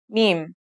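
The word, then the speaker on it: ميم: Now let's start with our first letter, mim. This letter sounds just like the English M, and it should be pretty easy to pronounce.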